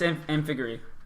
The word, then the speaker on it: Amphigory: Yeah, it's Amphigory is how you pronounce it.